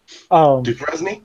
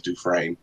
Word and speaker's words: Dufresne: Dupresne? Yeah. What about Duke Resney? I'm being silly. It's spelled Dufresne. His name's Dufresne.